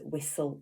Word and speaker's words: whistle: And then we've got another grapheme representing S, and it's that silent T that we often see in words. And now our caption here is whistle in the castle.